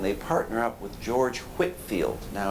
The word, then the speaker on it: Whitefield: partner up with George Whitfield now it's spelled Whitefield but pronounced Whitfield he's an early sort